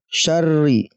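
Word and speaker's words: شَرِّ: Makanya dibacanya ditekan syarri, ya, syarri. Nah, min syarri ghasikin idza waqab.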